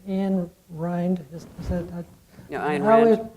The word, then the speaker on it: Ayn Rand: No, Ayn Rand, right.